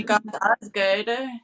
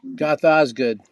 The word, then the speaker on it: Goth Ozg∞d: Now, can you pronounce it? Goth Oz Goth Goth Oz. Our I video say Goth Osgood. Goth Osgood.